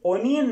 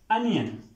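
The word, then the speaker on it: onion: अब ओनियन तो स्टूडेंट्स ये वर्ड ओनियन नहीं होता अनियन य एन आई ओ एन अनियन correct pronunciation है इसकी अनियन नेक्स्ट वर्ड है केज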